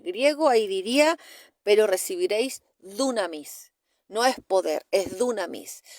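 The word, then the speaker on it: δύναμις: palabra no es poder es dunamis se escribe así como suena dunamis cuando si usted lee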